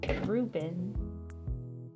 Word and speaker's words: Reuben: It's like, it rhymes with Cuban. I should have remembered that's what, Experiment 625 is named after. Ruben.